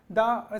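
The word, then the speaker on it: the: द और दी, दा का प्रोनाउंसिएशन ये होता है कॉन्सोनेंट साउंड, वही कॉन्सोनेंट के पहले अगर कॉन्सोनेंट लगा है तो दा पढ़ेंगे, और वोवेल लगा हुआ है तो दी पढ़ेंगे।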